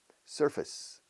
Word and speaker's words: surface: Casi una I corta inglesa, aunque se escriba face. Surface, the surface, surface, surface.